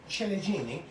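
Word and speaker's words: ciliegine: these are chili Genie these are uh chilijini yes that's how the Italians say it and I hope if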